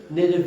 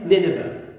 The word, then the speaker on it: Nineveh: and teach the people of I get Charlie pronounced this Nave. Is it Nineveh? Nineveh.